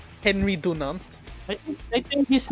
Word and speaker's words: Dunant: Henry Dunant. I think his name is pronounced as Henry Dunant.